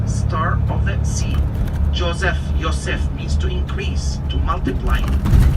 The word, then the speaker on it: Yosef: We don't say Joseph. It's Yosef.